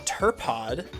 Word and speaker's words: Turpod: In Tojo Falls, I encounter a Sunflora that I name Turpod with a silent P.